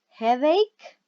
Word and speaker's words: headache: four different health problems headache remember pronunciation is not head H is headache right ache toothache a